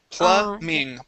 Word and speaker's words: plumbing: go to plumbing okay in this word the b is silent the word is plumbing plumbing okay very nice